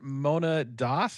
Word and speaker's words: Mona Das: So my next guest here is Mona Das. Am I pronouncing your name correctly?